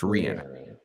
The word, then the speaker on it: Rihanna: yes we love it is Rihanna pronounce Rihanna If you guys don't know it's Rihanna yes in any other circumstance